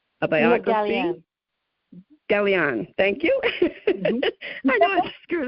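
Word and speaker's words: Gallienne: Hope I pronounce this right. Eva Lee Gelling, a biography. Gallion.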